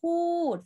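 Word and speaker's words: พูด: Pood. Falling tone.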